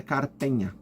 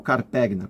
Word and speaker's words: Carpegna: e uma cidade italiana chamada Carpenha ou Carpegna, como se fala em português, mas o normal é Carpenha, tá bom?